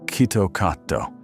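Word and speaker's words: キットカット: In Japanese, "KitKat" is pronounced "kitto katto" — which sounds almost identical to "kitto katsu," a phrase meaning "you will surely win."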